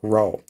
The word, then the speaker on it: rho: it has a symbol the greek letter rho kind of looks like a p right but in sort of anglicized we would spell it out like that row resistivity okay we can